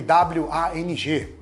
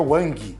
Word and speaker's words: Wang: E até você viu que eu pronunciei em inglês, eu não falei o G. E em chinês você também não pronuncia esse G no final. Não seria Wang, né?